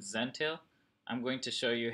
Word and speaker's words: Zentail: this is rhyme with Zen tale I'm going to show